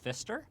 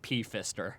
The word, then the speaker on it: Pfister: so sorry i mean he has a p in front of it but i can't imagine you pronounce the p you don't think it's yeah or god forbid pfister that is the darkest timeline hello